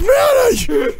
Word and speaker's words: Minnie: It rhymes with Winnie! It's M-I-N-N-I! It's Minnie!